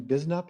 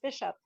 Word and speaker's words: Bishop: um is bisnap here hello hello hope i pronounced your last name correctly it's bishop bishop yes my bad i'm sorry